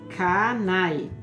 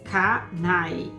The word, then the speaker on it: Kane: Ku, Lono e Kani pronunciava-se em Kanai. Ku, Lono e K-A-N-E. K-A-N-E. Kani pronuncia-se Kanai. Kanai. Mas eu vou falar Kani, tá, gente? Porque eu sou brasileira. Então, tem as 3 ordens: Ku, Lono e Kani, tá bom?